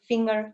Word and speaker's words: finger: You can recognize that if you put away that eer at the end if it is an existing word what is left then you can't hear anything. singer. If you remove e r from the first word, this doesn't exist. So, we say finger.